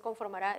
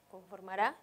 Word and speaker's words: conformará: cuando yo hablo entonces identifico la sílaba tónica que es conformará es la última pienso cuál sería la regla si es aguda y termina en vocal pues debe llevar tilde conformará lleva tilde del mismo modo un bueno